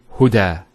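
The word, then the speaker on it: هدى: It's called an alif maqsura, and it's exactly like an alif, the way it's pronounced. It's like a ya without the 2 dots. So we say huda. There's the elongation as well, because the fatha followed by an alif.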